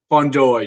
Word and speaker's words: Fundora: i ask to be people on how to pronounce your last name but it's fondor yes you got that right what that was